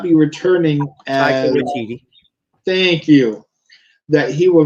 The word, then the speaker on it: Waititi: know that I can never remember how to pronounce it right. Takiti will not be returning Taika as. Waititi.